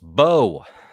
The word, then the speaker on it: Beau: Xavier says, Beau is a French name pronounced Beau.